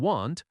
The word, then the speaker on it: want: For example, won't and want are often confused in pronunciation. Won't has a long o sound. Want has a short a sound.